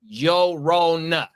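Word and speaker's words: Llorona: Yeah, the double L makes a Y sound in Spanish.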